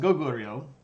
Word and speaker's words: Goguryeo: Goguryeo. No, it's pronounced Goguryeo.